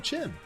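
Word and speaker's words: Qin: I'm like, just call him Chin.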